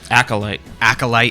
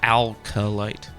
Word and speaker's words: Acolyte: It's not alcohol. What do I always do this. What is it? Acolyte. There's no L before the C. Acolyte. That's what she said. Am I saying it wrong? Acolyte. Acolyte. Yeah, not alkalite.